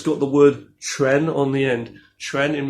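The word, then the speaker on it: Quan: It's not really Chuan.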